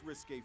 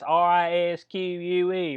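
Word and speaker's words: risqué: 29-year-old claims she meant to send the first risque photo to her husband and sent it by accident to the...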